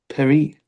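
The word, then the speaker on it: Pierry: Perry. Perry. P I E R R Y. Perry.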